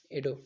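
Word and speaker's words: Yedo: हैं जो भी आप बोल लो ठीक है स्पेलिंग यही होना चाहिए प्रैक्टिस कर लेना वाई ई डी ओ एडो ठीक है next name some artist who were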